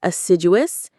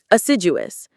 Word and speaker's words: assiduous: Let's say our target words are assiduous and elucidate. Let's quickly learn them. Assiduous. Assiduous. Assiduous. The stress is on sid.